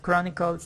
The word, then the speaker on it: Chronicles: The pronunciation of Chronicles is something like this. Chronicles.